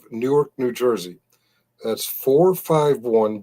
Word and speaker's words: Newark: Uh I know they're neighboring cities and the pronunciation is real close. It's Newark, New Jersey.